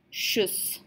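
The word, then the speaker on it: tschüss: or something like that we can say just shoes so it looks a lot scarier than it is ok so the tea you can pretty much ignore hey and the unlock those two dots over the you they just hope tell us what bowel sounded is sort of on pronounces just and then our very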